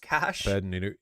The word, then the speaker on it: cache: mobile Burnie his pronounced cash yeah yeah yeah right that that the word CH uh c a uh is in like a weapons cach is is pronounced uh cash not cash a which is French for